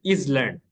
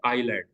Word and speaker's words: island: जैसा कि इंग्लिश में भी बात चीज़ें देखिए आप, आईलैंड है जैसा लिखते हैं इजलैंड, ISLAND इजलैंड, लेकिन पढ़ते क्या है आईलैंड, एस साइलेंट होता है।